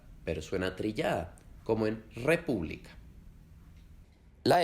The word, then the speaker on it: república: república.